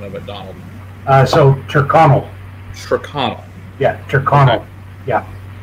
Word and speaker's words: Tyrconnell: So, Tyrconnell. Tyrconnell. Yeah, Tyrconnell. Okay. Yeah. Yeah, usually when... you're pronouncing Irish names, you're supposed to do it as fast as possible, I've been told.